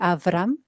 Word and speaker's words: Aram: Um if I'm not I'm not sure to pronounce your surname, but I know that it's probably Aram. Let correct me if I'm wrong. Yeah. Good.